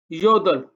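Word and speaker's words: 여덟: बाद बीअप आया है, तो लिहाजा यहां पर हम रियल की साउंड देंगे, और जो बीअप होगा ये साइलेंट हो जाएगा।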